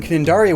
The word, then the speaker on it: Cnidaria: Sea anemone are in the phylum Cnidaria with a silent C, and are closely related